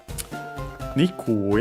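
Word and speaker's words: にくい: Nikui I want to check hopefully it will also be accented always but we'll see. Let me quickly see Not that one, this one. And yeah, luckily also always accented.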